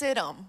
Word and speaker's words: Siddim: There is, it's a silent H. It's Hebraic. And it's pronounced Siddim.